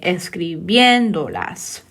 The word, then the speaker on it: escribiéndolas: So it'll be the third to last syllable. So you count 3 back from the end. So 1, 2, 3. And that's where you put the accent on that E.